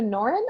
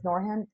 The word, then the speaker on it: Norhan: So I apologize to Norin. I believe that's how you pronounced your name. Home, that's his name. His name is Norhan.